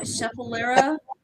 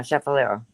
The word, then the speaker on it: Schefflera: but that's I don't know how you say it. Scheffalera. It's Schefflera. Yeah, Scheffalera. Diane, you can let me know what you want to use this for.